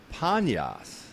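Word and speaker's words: Paneas: right pan right so the original name was panyas but the Arabs have a hard time pronouncing the pl sound so they change it to banyash believe it or not but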